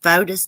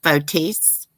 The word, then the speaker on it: Fotis: in the world did fotus do with her body actually his name's permit pronounced fotis i heard that on the news fotis votisse or something